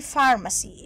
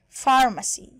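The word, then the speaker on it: pharmacy: المفردات الاضافيه صيدليه يعني فارماسي البي اتش هنا تتنطق حرف اف فارماسي فارماسي حديث يعني مودرن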